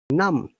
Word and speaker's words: numb: So if there is a B after M, B is always silent. Once again, num, cum.